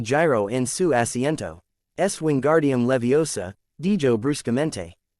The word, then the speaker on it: Wingardium Leviosa: Wingardium Leviosa, dijo. Recuerd, énfasis en gar y levi. No en el final.